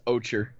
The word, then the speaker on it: ochre: There's no K in there. Okay, sure as I would that. pronounce it as Ocher.